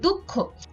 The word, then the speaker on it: দুঃখ: এরপরে দুঃখ, এখানে বিসর্গ থাকার কারণে খ এর দ্বিত্ব উচ্চারণ হচ্ছে, কিন্তু খ এর দ্বিত্ব উচ্চারণের ক্ষেত্রে আমরা কিন্তু দুঃখ বলি না, আমরা বলি দুঃখ। এজন্য এই উচ্চারণে প্রথমে আমাদের ক হসন্ত ব্যবহার করতে হবে, তারপরে আমাদের খ ব্যবহার করতে হবে।